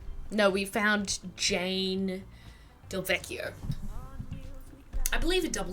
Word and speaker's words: Del Vecchio: No, we found Jane Del Vecchio. I believe a double C in it seems like an Italian name, so I'd say double C is a hard C sound in Italian, I think.